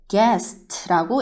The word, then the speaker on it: guest: 손님 얘기할 때 어떻게 얘기하냐면 집에 방문한 손님 얘기할 때 여기에서 U가 소리가 안 나요. 그래서 읽을 때 guest라고 읽어주면 돼요.